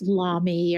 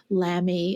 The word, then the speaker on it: Lamy: to pronounce it but I think it's Lamy or Lamy it's l y they're wonderful pens and